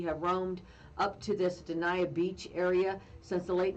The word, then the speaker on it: Dania: Dania.